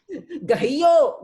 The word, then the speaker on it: गहियो: गहियो, गयो नहीं बोलो, गहियो बोलो।